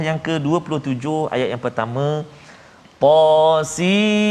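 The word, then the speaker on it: طس: Kemudian surah yang ke-27 ayat yang pertama, Tasin. Hujung dia nun sebab ejaan dia sin ya nun. Kalau hamim tadi mim ya mim. Tasin ta sin ya sin. Sin ya nun sin.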